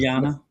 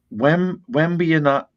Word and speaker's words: Wembanyama: But I cannot never pronounce it. Wembanyama. Yeah, it's a tough one. Wembanyama.